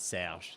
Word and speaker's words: Serge: I love the pronunciation of the R, by the way. That's Yeah. great. Serge.